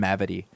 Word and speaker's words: Mavity: never heard the name mavity and i really like saying it it's a good name michael mavidy it's great rhymes with gravity gravity's a great word